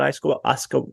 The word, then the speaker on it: ayahuasca: But, I don't know much about ayahuasca. How do you pronounce it again?